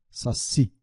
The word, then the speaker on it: saci: Na verdade, ele tem a última sílaba tônica, mas não tem acento gráfico. Então veja só a diferença. Ele não tem acento gráfico, mas ele tem a sílaba tônica, saci.